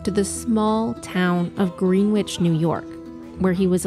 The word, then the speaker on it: Greenwich: We took you back to the small town of Greenwich, New York, where he was allegedly last seen. It's Greenwich, not Greenwich, say it phonetically.